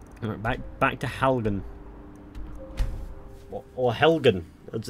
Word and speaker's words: Helgen: Or Helgen, as it's pronounced.